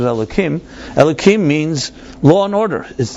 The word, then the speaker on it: Elohim: You don't pronounce the K. It's usually pronounced with a hey, but you pronounce it Elohim.